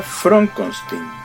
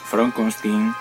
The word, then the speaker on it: Frankenstein: el doctor frankenstein front consulting se pronuncia from con sting from con sting para el papel de